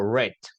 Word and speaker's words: read: yo digo read y aquí digo red ya como el color yarit y aquí digo